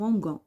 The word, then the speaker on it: mangeons: خاصة donc c'est exceptionnel parce que هنا عندي la lettre G باش ننطقها تقعد لي النطق تاعها G يقدر نزيد الأو. Alors كوما نزيدو الأو نقراها nous mangeons وهذه nous mangeons ما كاينش كاين nous mangeons.